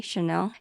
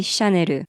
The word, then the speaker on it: Chanel: In America, people say Chanel. And in Japan, we just say Chanel.